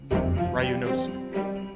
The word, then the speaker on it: Ryunosuke: 4 syllables. Oh, I'm doing something wrong then. Ryunosuke. Oh. Ske. Ryunosuke.